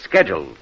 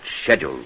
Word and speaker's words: schedule: An American says schedule. Only an Englishman pronounces it schedule.